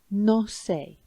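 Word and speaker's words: no sé: is no say so it's spelled like nose like our word knows in the middle of your face but it's two words and it means I don't know and it sounds like no say and how about the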